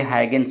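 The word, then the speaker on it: Huygens: यहाँ प्रोनाउंसिएशन में दिक्कत हो सकता है तो आप लोग सुधार लेंगे, ये हाइगेंस होगा। हाइगेंस, यहाँ सा हो जाएगा हाइगेंस।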